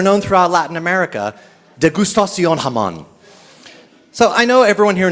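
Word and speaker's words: Hammond: You may recognize it by its non-Jewish spelling, H-A-M-M-O-N-D, but it's pronounced Haman.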